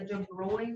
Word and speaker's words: de Broglie: on friday was the de bruy wavelength so i know that it doesn't look like that says de bruyne but that is how you pronounce it um anytime you're supposed